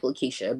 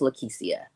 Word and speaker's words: Lekecia: peve of mine so I like for my name to be pronounced how it's spelled and not how it just looks it looks like leesa but it's not it's it's pronounced lisia okay lisia so I am go